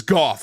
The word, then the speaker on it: Goff: gal that's clearly Susan Goff or go depending on how you pronounce it again I we have confirmed a million times it's goth it is Goff 100% we have an email from